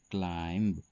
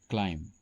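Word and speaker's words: climb: सही उच्चारण होता है क्लाइम यहां पर बी साइलेंट होता है।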